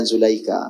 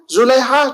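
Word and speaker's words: Zulaikha: perizinan juga kepada zadika cara baca yang sebenarnya bukan Zulaika bagian pertama yaitu Zulaiha cube Nabi Yusuf lah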